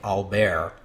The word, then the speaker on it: Albert: to the king as Albert all this time and I suppose I ought to be saying albear but you've probably noticed